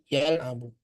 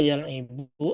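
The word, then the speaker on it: يلعب: laba laibah fi'il mudhornya pakai fathah yalabu tidak bisa yalabu e tidak bisa yalibu atau yalubu misalkan kita buat yalubu tidak bisa salah bacanya Yang benar yalabu tapi kalau khoroja yakruju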